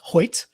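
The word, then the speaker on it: Hoecht: found out it's pronounced Hoyt which I don't I don't know how h-o-e-c-h-t makes a y sound but go on uh however from what I understand it's Hoyt so not only so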